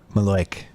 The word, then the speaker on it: malocchio: the malocchio or the maloik as my mom calls it Lord yeah the Italian curse and it's spelled malocchio right but the Italians call it maleic I have to tell